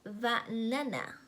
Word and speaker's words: banana: For example, the word banana. The stress is on the second syllable.